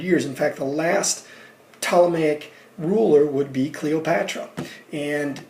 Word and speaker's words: Ptolemaic: That starts with a P, Ptolemaic, Ptolemaic. The P is silent, empire.